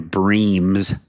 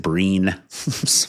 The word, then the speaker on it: Bream: I said I said Shannon Bream's name wrong. I said Breen.